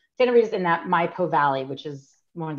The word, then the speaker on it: Maipo: Maipo.